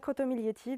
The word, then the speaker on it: Crottomiglietti: recherchez moi je m'appelle crotetti le G ne se prononce pas c'est important dans